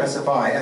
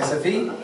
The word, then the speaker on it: SFI: I used to call it SFI but I know how to say sfe so it's it's more fun for me to say sfe because now I'm being Swedish I guess all right did I say it right sfe or SFI sfe yeah okay sfe now I've been doing this